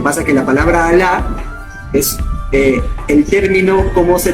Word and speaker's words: Alá: Alá.